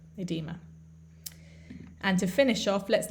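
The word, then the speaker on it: oedema: spell that o e in us english they would just put the e without the o but it's pronounced edema edema and to finish off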